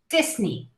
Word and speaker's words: Disney: mouse oh my gosh we say this knee all right this knee disney stanley stanley is the